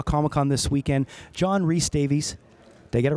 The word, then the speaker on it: Rhys-Davies: Con this weekend, John Rhys-Davies. Did I get it right? Rhys-Davies. I was close. Did I get it right? You did.